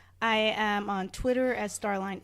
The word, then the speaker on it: Starline: am on Twitter at Star Line X and I'm on Instagram as Star Line pronounced Darlene but for spelling purposes Starline yes the best that most